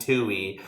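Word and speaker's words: Tuohy: a movie about him it's spelled t-u-o-h-y-s it's such a name the Tui family Bro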